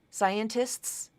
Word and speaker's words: scientists: use quite a bit scientists scientists can be pronounced as scientist no final no middle T there here is the